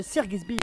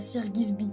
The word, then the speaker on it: Sir Gibsy: Je voulais parler de Sir Gibbsy. Excuse mec, c'est pas Sir Gibbsy, c'est Sir Gibbsy.